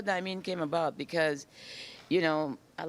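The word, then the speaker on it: Dymin: Diamine. You know, I said, I know it's spelled D-Y-M-I-N, right? And it's a long I, right?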